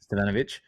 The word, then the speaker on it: Stefanovic: I'm going to say this wrong again. I said it wrong before and you corrected me, but Stefanovic. Did I get that right? Ben Stefanovic? Stefanovic. He's Stefanovic. Like Stefanovic.